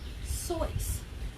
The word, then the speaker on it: Seuss: Seuss it's actually pronounced choice like voice but with an S cuz his full name